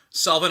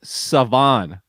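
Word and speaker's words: Salvon: dst by the way you said it wrong what it's not solvent no if you got the ahmed part where i found this out last night when i was doing my podcast it's savon noel savan ahmed savan ahmed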